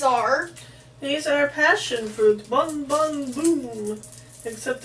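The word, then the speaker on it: Bon Bon Bum: Bon Bon Boom. Except it's pronounced B-U-M.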